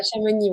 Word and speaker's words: Chamonix: C'est ça, à Chamonix, ouais, dans les Alpes. On dit pas le X, hein.